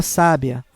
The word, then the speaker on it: sábia: Na primeira palavra temos sábia, ou seja, pessoa sábia, é um substantivo. A sílaba tônica é a primeira.